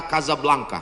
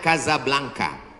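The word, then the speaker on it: Casablanca: mesjid asam2 di Kota Kasablanka Hai ibukota Maroko tempat saya kuliah nama negaranya Maroko ibukotanya tulisannya Caca blancha cara bacanya Kadzab langka Kaza artinya rumah Blanca artinya putih Kasablanka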